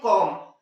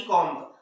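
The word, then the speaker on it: comb: पहली कंडीशन है कि यस, तो इसे हम लोग क्या पढ़ते हैं, कॉम, ना कि कॉम्ब।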